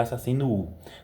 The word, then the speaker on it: Assassinos Wu: É desse jeito que tá escrito, mas se pronuncia Assassino U.